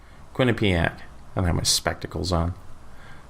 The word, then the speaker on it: Quinnipiac: a streak new jersey Quinnie pack so I pronounced like Winnipeg when a P AK Quinnipiac yes Quinnipiac I had my spectacles